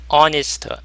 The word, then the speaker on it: honest: 그래서 대신에 on을 사용을 했고 honest. h가 묵음이고 오 발음이니까 on을 사용했고 반면에 호텔.